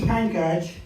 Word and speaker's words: Pankaj: Uh, my name is Pancage.